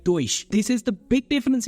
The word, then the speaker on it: Deutsch: You have in your mind Durch, here Deutsch. That's a big difference.